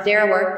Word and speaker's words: Derawar: with the passage of time came to be pronounced Derawar, its present name.